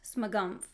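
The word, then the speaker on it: Smogumph: don't just so yeah my username is pronounced smogumf like the pH makes the F sound uh is it my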